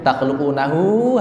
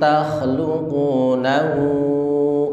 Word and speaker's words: تخلقونه: Antum dengung, kemudian takhluqunahu, hati-hati hunya panjang, nahu dua ayunan atau 4 ketukan, kemudian am nahnul khaliqun.